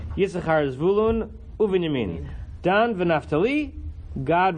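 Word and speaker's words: יששכר: Well, the second sin, unpronounced Yisachar, is always interesting, but it's not any more interesting in this mentioning of Yisachar than any others.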